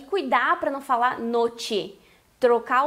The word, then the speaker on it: noche: Tu tens que pronunciar noche. Noche. O que eu quero tratar aqui é que o CH, que tem o som de ch, como se fosse o nosso TCH em tchau do português, e cuidar para não falar noche.